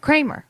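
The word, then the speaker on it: Kremer: She is Kramer. Kramer. It's spelled K R E M- E- R, but uh Amy Kramer,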